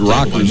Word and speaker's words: Rakers: Yeah, I thought it was Rakers, but Rockers is the pronunciation.